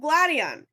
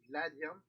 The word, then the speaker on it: Gladion: I remember planning it out with Gladion. Gladion? You mean Gladio? It's pronounced both ways.